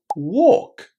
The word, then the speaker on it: walk: And then we've got walk. And in walk, we say a long o. We forget about the L because it's silent and just connect the three sounds. Walk. Walk without the L.